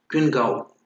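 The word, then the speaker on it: Qinghao: synonym क्या है, क्वियान हो स्वीट एनी हो, इसका सिनोनिम देखो क्वियान हो, क्वियान हो जो आप प्रोनाउंसिएशन है वहां देख लो, क्विन गाओ, ये चाइनीज हर्ब है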